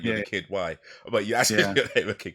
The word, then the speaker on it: Kidwai: Is that how it's spelled? Yeah. Just Kid. KIDWAI. Oh, awesome, Yep. cool. Kid Y.